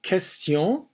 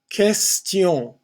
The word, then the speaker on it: question: Une question. Question. The T-I-O-N, tion. Question. QU is a K sound, again with less air blown out.